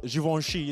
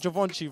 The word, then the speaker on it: Givenchy: know what you said givenchy it's not it's not javanchy bro i've been getting told off store i've been pronouncing it wrong but yeah you're out